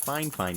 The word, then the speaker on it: FiFine: It's pronounced FiFine, not FiFine or FiFine.